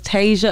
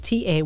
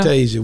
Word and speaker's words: Tazia: A lot of people say it wrong. TAZIA. It's TAZIA. TAZIA. It's TAZIA. I know, because when I first heard TAZIA, I'm looking up TASIA.